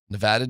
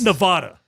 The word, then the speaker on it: Nevada: What What am I supposed to say? Nevada. It's not like you're just so not from Colorado. It just bothers me. Why? It's not It's not Nevada.